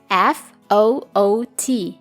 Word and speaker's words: foot: Ejaannya F-O-O-T. Cara membacanya adalah foot. Foot. Ada simbol U pendek di sana, bukan foot, tapi foot.